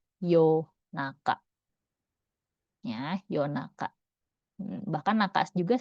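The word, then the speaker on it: 夜中: Nah, yang sering dipakai yoru tapi dia juga sering dibacanya yo juga nih. Kalau dia dipasangkan dengan kanji tengah ini dia jadi yo naka.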